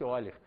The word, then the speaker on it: Euler: Está escrito Euler, mas pronuncia-se Euler.